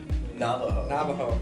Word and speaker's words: Navajo: Navajo, that's how you say it.